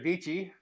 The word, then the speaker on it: Dietschy: learned about this from Sarah deity rhymes with peachy it was like the